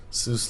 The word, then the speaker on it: Seuss: strong soft soft cheese Seuss like noose so like soy Dr